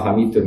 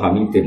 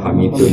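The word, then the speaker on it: حميدٌ: Bacanya ya tetap ila hamidun karena i'rab hikayah. Enggak boleh kamu baca ila hamidin apa? Tetap bacanya ila hamidun majid maring lafaz hamidum majid karena i'rab hikayah.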